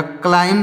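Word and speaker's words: climb: सी एल आई एम ब तो हो जाएगा क्लाइम क्लाइम मींस क्या होता है चढ़ना क्लाइम मींस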